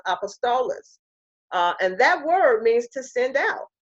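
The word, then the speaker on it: ἀπόστολος: He gave some apostles, or it's pronounced apostolos, and that word means to send out.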